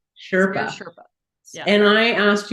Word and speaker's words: Spirit Sherpa: And Kelle, you're a host of a podcast called Spirit Sherpa. Did I say it right? Spirit Sherpa.